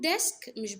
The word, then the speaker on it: desk: خلي بالك لما بقول ديسك مش بكسر قوي، يعني صوت الإي القصير زي لما بتسأل حد مثلا تقول انت بتقول كده، يعني عشان تفتكرها. ديسك.